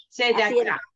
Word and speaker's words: צדקה: A veces se pronuncia y a veces no, como acá en donde leí, se da, ta. Ahí está una E y no la pronuncié. Se da acá. Ahí la pronuncias.